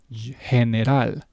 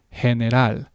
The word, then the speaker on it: general: it can be pronounced as an h eh sound he as in the word heneral which is a Spanish pronunciation of the English version general. Okay, English general, Spanish, henal.